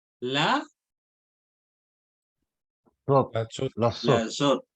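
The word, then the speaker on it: לזאת: Entonces, ¿cómo vamos a pronunciar? La Zot, La zut.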